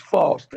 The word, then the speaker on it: Faust: is it Frost or Faust? It's Faust, F-A-U-S-T.